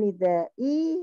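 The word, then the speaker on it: nidā'i: Bainan nida'i harusnya kan hamzah. Tadi dibacanya ain ya.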